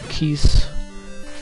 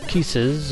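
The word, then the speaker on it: Keese: again these guys are actually called keiss or kisses or kissi depending on how you want to pronounce it in plural near easy to kill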